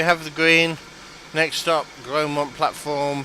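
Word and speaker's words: Grosmont: It's Grosemont. I thought it was Gromont, but the S was silent.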